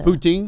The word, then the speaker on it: poutine: I ate the Poutine?